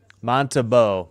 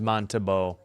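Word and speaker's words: Montembeault: I should get hockey reference up and get some of these pronunciations, I think. Let me listen in. Vladaro. Montabau. Okay, it is Montabau.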